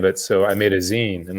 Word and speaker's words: zine: how to pronounce it i thought it was called design because i like didn't even know you know i never heard anyone say the word zine before and i just went